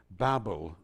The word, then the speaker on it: Babel: Now, in Genesis chapter 11, we have a very sad story of the Tower of Babel, or Babel, as I think perhaps we should pronounce it.